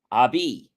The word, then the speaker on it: habit: of being it's also derived from the French word pronounced ABI which means close in the